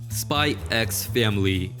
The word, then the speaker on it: Spy x Family: to introduce this one spy x family yes i pronounce the x and there's nothing you can say or do to change my mind listen i can sit